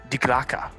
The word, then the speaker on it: Die Glocke: So it was also known as, it's spelled Die Glock, but it's pronounced Die Glocke in German. You know what that means in German?